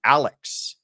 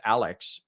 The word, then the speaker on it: Alex: introduces himself as Alec, even though it is spelled as Alex, but I think it that has to do with that kind of historical Scottish um at least that's what I've read about the pronunciation of his name is to as to why he pronounces it that way.